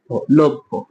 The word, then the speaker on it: লভ্য: কি হবে বুঝতে পারবেন লভর উচ্চারণটা হবে লয়কার লোভ ভয়কারে লভ্য এখন অনেকে আমাকে কিন্তু